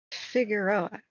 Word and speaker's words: Figueroa: Next, we want to go get Figueroa. That's the California pronunciation.